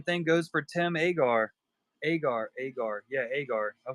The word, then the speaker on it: Agar: Agar.